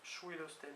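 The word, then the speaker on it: Ch'wilostenn: La Ruilosten Gauze, C-H apostrophe W-I-L-O-S-T-E-2-N G-O-Z-H, peut-être qu'on prononce Schwilosten dans ce cas-là, Gauze, fée souterraine du Trégor, ne peut quitter sa demeure secrète qu'à midi ou à minuit.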